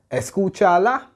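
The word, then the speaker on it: escúchala: it's cool I remember if it results in three or more syllables then you have to put an accent on the turn from last ball and escuchala that's three syllables therefore one two three so the U has to carry an accent it's Coachella so listen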